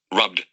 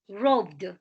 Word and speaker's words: robbed: is one of this the pronunciation of the eb ending is d example listen robbed robbed robbed it's not robbed no it's not robot listen the pronunciation again